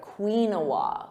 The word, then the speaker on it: quinoa: I've heard some funny pronunciations like quinoa, quinoa, but it's actually quinoa, quinoa. So that emphasis on quinoa. Repeat that, quinoa.